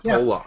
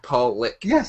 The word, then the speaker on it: Pollock: you don't pronounce it poock I know poock is a derogatory term for someone's oh yes yes but it's actually pronounced Paul lick and I I always